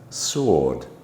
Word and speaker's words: sword: W is silent, as in answer, sword, and the number 2.